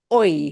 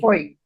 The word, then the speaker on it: hoy: anywhere in the word, the letter H does not get pronounced. It is truly silent.